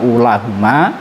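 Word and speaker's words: أولاهما: Cara kita niteni wawu yang tetap dibaca panjang hanya terdapat di dua lafadz tadi. Yang pertama ulahuma, yang kedua lafadz ulahum. Cukup itu saja niteni ini.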